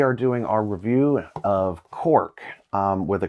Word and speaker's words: Qork: Today we are doing our review of Qork with a Q, Q-O-R-K, or Qork, if you want to pronounce it like what your components are.